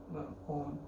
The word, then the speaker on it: Om: and so am I, all the 3 syllables, and then we go quiet. Uma, Om. In my personal experience, it's just more beneficial for me when I emphasize on the ma bit, because there are times